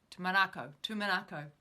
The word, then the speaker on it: Tumanako: I keep stumbling over the pronunciation because I was saying it wrong for so long. Tumanako.